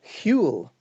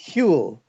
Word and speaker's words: Whewell: it is Whewell, and there's a sort of a breathless, sort of breathy So kind of beginning. repeat it, please. Repeat. Whewell. Whewell.